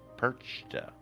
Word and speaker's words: Perchta: Holda is also related to the Germanic figure of Perchta, and that's spelled just like the fish, perch, the T-A.